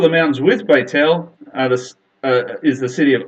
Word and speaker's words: Ai: On the top of the mountains with Beit El is the city of Ai, spelled A-I. A lot of people call it Ai, but it's actually pronounced I.